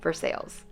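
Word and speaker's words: Versailles: recommended Ed called versales I know it's spelled Versa but apparently in Miami you have to say versales it was extremely packed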